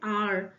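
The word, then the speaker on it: hour: इसका correct answer है आर आर में एच हमारा जो है व साइलेंट हो जाता है आर आप हिंदी में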